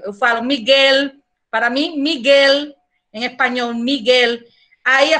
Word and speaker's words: Miguel: Para mim, Miguel, em espanhol, Miguel. Aí a pessoa, que? Miguel? Não consigo entender, porque para vocês é Miguel. Esse L final é com som, vocês pronunciam com som de U.